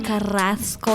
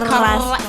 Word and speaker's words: Carrasco: My name is OG Carrasco. You gotta roll your R's. Ow, Carrasco.